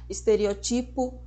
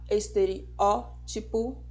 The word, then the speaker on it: estereótipo: forma diferente professora existe eu já ouvi e eu sei que vocês também pessoas falando de estereotipo prototipo E na verdade a pronúncia correta é com acentuação na anti penúltima sílaba estereótipo protótipo vermífugo fique sabendo